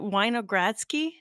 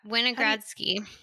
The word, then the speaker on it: Winogradsky: going to pronounce properly is it weiner gradski oh yeah winogradski yeah can you explain